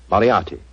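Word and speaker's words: Moriarty: I'm afraid I'll have to begin calling it the way it looks. M O R I A R T Y. Mariati.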